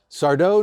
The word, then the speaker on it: Sardo: And the owner of the Magic Mansion Sardo, no Mr. Mr. Accent on the dough.